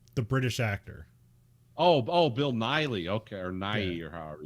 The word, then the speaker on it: Nighy: Yeah, it's like Bill Nye. It's Nighy.